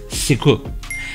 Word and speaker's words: SQL: SQL is the short form for Structured Query Language and is pronounced as SQL.